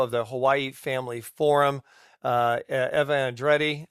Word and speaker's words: Eva Andrade: So I'd like to welcome to the program the president and CEO of the Hawaii Family Forum, Eva Andrade. Eva Andrade, thank you so much for joining us, Eva.